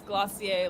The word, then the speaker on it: Glossier: I always The assume it's Glossier, like dossier.